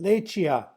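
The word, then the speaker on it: lečhíya: And um the first uh word is uh you can try and say say it lechia.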